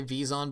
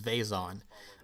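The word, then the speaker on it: Vezon: me i typically say vison be the official canon pronunciation is vason um same with like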